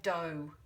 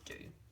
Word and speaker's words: do: okay now that really if it's following our open syllable rule because the vow is finishing the syllable it should actually say do um but it doesn't it says do but it's a common